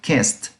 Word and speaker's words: kissed: Si va a ser en pasado, escucha cómo suena al final la T, kissed, kissed. No es ni kissed, ni no. Tiene que sonar como una T el sufijo.